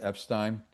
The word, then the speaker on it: Epstein: He was also managed by Brian Epstein, sometimes pronounced Epstein.